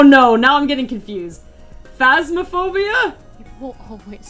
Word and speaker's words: Phasmophobia: at my inability to pronounce in spanish phasmophobia phobia it's phasmaphobia and danganronpa dagging around danganronpa